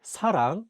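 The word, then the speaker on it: 사랑: hear how they sound and the Korean word Sarang which means love The Shield is at the beginning of the word therefore is pronounced as SU here's an example with Shield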